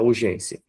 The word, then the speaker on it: urgência: Aí você vê que a sílaba forte não é a última, né? E nem é a antepenúltima, mas sim a penúltima.